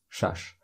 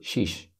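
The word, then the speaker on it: шаш: six shush shush six shash but also people say Shish especially in the north part of Tajikistan so I get up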